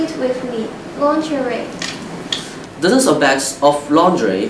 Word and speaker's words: lingerie: Lingerie.